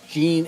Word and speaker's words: Jean: Jean is a much more popular character than anyone from New Genesis. Yep. Uh Jenna is the actual uh pronunciation.